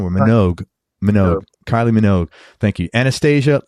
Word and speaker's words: Minogue: Is that how you pronounce her last name? Or Minogue? Minogue.